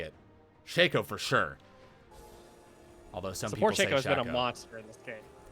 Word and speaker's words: Shaco: want to say it Shaco for sure although some support yes yeah but people say it's Chaco they're just not saying it right like can we be